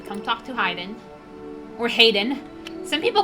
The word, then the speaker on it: Hayden: Some people call him Hiden, but I think his name's Hayden because it's spelled H A H A Y D E N. And not just H Y D E N. Yeah, Hayden, not Hiden.